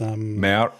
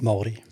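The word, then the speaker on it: Māori: Maori. How do you pronounce that again? Maori.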